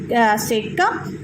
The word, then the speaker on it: cecum: takes place, and then it's get to the cecum, और कोई लोग इसको सीकम भी प्रोनाउंस करते हैं, जहाँ पे जो बैक्टीरिया है that acts on cellulose and digested completely.